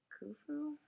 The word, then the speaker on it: Khufu: pyramid right here it's called the Pyramid of Khufu I believe how you pronounce it and it's the largest Egyptian pyramid